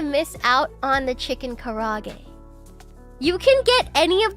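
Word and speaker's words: karaage: that in mind K I don't want to sound like a wee and say it properly I'm going to say it karag cuz that's how you're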